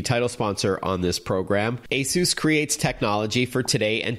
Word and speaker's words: Asus: for more info that's a s us /us /r a do and yes you can call the company ASIS if you want but it is Asus ASU Escom and they